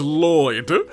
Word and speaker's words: Lloyd: But for those who don't know me, my name is Lloyd. Single Lloyd. Don't let anyone else convince you otherwise. Even though it's double L's, it's just one pronunciation.